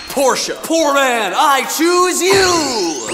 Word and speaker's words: Porsche: ah rich man I Choose You It's pronounced Porsche poor man I Choose You Naughty by happiness